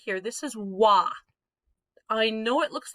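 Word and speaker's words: は: right here this is wah i know it looks like ha when we're using it as the subject marker it reverts to its old-fashioned pronunciation of wa it's one of the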